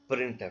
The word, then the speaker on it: printf: इसको प्रोनाउंस भी ऐसे ही करेंगे जैसे मैं इसको प्रोनाउंस कर रहा हूं, प्रिंट एफ, ठीक हो गया। यानी बोलने में ये आप इसको प्रिंट एफ ही कहेंगे।